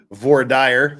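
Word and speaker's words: voir dire: about what happened on VOR dire which is exactly the way you should pronounce that word basically like ladies and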